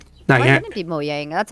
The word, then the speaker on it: Mojang: Ku in Bandicum uh from the UK and Muyang I would assume it would be because it